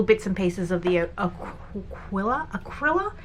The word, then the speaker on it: Acryla: So I've only got little bits and pieces of the acryla? Is it acryla? Am I saying it wrong? Acryla, yeah, acryla, like acrylic gouache basically.